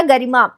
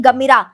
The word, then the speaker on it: गरिमा: एक नाम और था गरिमा मैं बोल नहीं पा रही थी बचपन की ये बात है मैं हमेशा प्रोनाउंस करती थी गमीरा तो मम्मी ने फिर